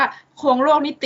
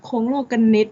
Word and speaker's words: โคลงโลกนิติ: ร้อง มาก นัก เรียน อย่า อ่าน ว่า โคลง โลก นิติ นะ คะ กู จะ ฆ่า ตัว ตาย เลย นะ คะ โครง โลกนิติ นะ คะ นัก เรียน จำ เอา ไว้ เลย ค่ะ คง โลก กัน นิด นะ คะ สำหรับ